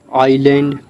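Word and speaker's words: island: आइलैंड ना कि इसको इज़लैंड पढ़ते हैं।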